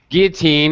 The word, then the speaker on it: guillotine: haven't heard about it french word strange pronunciation you don't really pronounce the else guillotine it was a huge